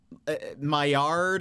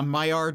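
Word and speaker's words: Maillard: It's spelled M A I L L A R D. But I think it's like Mayard. I think it is a French.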